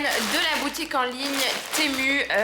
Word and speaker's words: Temu: la boutique en ligne temu ça se prononce aussi timou vous prononcez ça comme vous voulez j'ai pas un accent